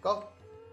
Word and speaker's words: cough: कई बार अंग्रेजी में GH का उच्चारण घ न होकर फ होता है, जैसे ENOUGH इनफ, ROUGH रफ, COUGH कफ। यहाँ पर घ का उच्चारण नहीं है, इनक रफ कग नहीं, इनफ रफ टफ, यानी फ का उच्चारण।